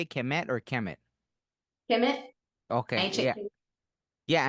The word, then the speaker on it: Kemet: Kemet, Okay, ancient yeah, Kemet.